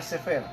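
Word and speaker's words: ספר: En hebreo el cuero se pronuncia sefer y vino a conocerse como Sefer Torah.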